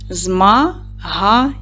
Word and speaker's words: змагання: Змагання. Три склади. Поставте наголос. Змагання падає на другий склад. Молодці. Порахуйте букви і звуки в цьому слові. Правильно, вісім букв, але сім звуків, тому що подвоєні однакові букви дають один звук.